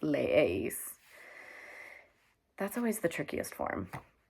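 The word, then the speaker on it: leéis: e r and we add e with an accent i that's pronounced leis that's always the trickiest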